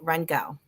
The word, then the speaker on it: Rheingau: And they say Rheingau. So it was kind of quick and short, like with a gow, like your Gal. GOW.